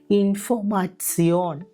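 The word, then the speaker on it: Information: പറയുന്നതുപോലെ ടേക് ഉദാഹരണം ബിബ്ലിയോതേക്ക് ഇനി ടെ ഇ ഒ എൻ കെ ഇ ഒ എൻ ഒരുമിച്ച് വരുമ്പോൾ അതിന്റെ ഉച്ചാരണം ഇറ്സിയോൺ ഇറ്സിയോൺ എന്ന രീതിയിൽ വേണം ഉച്ചരിക്കാൻ ഇവിടെ നമ്മൾ ഉദാഹരണമായിട്ട് എടുത്തിരിക്കുന്നത് ഇൻഫോമാറ്സിയോൺ നമ്മൾ എഴുതുന്നത് ഇംഗ്ലീഷിലെ വാക്കുപോലെ തന്നെയാണെങ്കിലും ഉച്ചാരണം വരുമ്പോൾ ഇൻഫോമാറ്സിയോൺ എന്നാണ് ഇംഗ്ലീഷിൽ നമ്മൾ ഇൻഫർമേഷൻ എന്ന് പറയുമ്പോൾ ജർമനിൽ അത് ഇൻഫോമ മാക്സിയോൺ ആണ് നമ്മൾ ആൽഫബെറ്റ്സ് പഠിച്ചപ്പോൾ ഇംഗ്ലീഷിൽ വൈയുടെ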